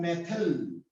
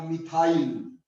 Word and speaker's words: methyl: होता है मेथिल या मिथाइल। ये प्रोनाउंसिएशन की बात है भाई, मेथिल या मिथाइल। ठीक, अरे हमने कौन सा इंग्लैंड में रहना है, ठीक, तो इंग्लैंड में जो होता है वो मेथिल होता है, हम इसको मिथाइल